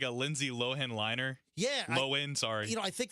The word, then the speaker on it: Lohan: without moving your jaws like lindsay lowell like that no it's not it's it's lowen so uh lindsay lohan